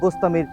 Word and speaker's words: বাস্তামি: আর বস্তামি অর্থ হচ্ছে বস্তাম শহরের অধিবাসী। আসলে উচ্চারণটি হবে বাস্তামি অর্থাৎ বাস্তামবাসী।